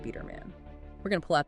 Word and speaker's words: Biderman: Estate Game by Coach Ron Biderman, and that's pronounced Biderman.